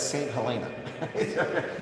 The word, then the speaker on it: St. Helena: was on exile in St. Helena. For the American audience and the Brits, that's St. Helena. The pronunciation a little bit different here.